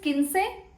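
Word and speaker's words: quince: uh for 15 like how do you say 15 15 is kin say 15 is kin kin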